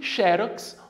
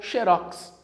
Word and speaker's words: xerox: chamas estão corretas novamente e xerox ou xérox dupla prosódia elas estão escritas né e pronunciadas também de maneira correta show de bola tirar